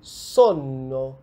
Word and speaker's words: sonno: These geminated consonants still exist in italian nowadays, as in "trattoria", we also have "sonno" (desire for sleep), which is different from "sono" (I am).